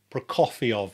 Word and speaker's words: Prokofiev: Prokofiev, I must remember that. That's how you pronounce it.